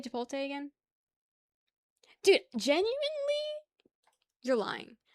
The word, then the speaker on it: Chipotle: How do you say Chipotle again?